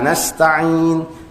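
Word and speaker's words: نستعين: Iyyaka na'budu wa iyyaka nasta'in, 'ain, jangan alif, jangan ta'in ya.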